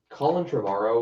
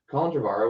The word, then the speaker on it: Colin Trevorrow: could have been amazing colin trevorrow was supposed to i'm pretty sure it's like pronounce his name colin dravara was supposed to do